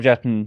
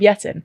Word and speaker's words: Jetten: And I was like, "Your Prime Minister Rob Jetten." And they were like, "Oh, you mean Rob Jetter." Oh, really? So, we've been saying it wrong this whole time.